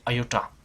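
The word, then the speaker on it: iota: एंड आई, ये जो आप सिंबल देख रहे हैं इसे पढ़ते हैं, प्रोनाउंस करते हैं आयोटा।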